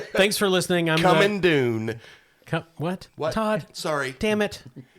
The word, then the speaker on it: Dune: coming soon all right Dune thanks for listening I'm coming Dune what Todd sorry damn it it rhymes with soon no I get it